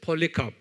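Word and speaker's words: Polycarp: 그래, 한번 발음해 보세요. 폴리캅, 아주 유명한 사람이에요.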